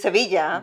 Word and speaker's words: Sevilla: maravilla, wonderful, rhymes with Sevilla.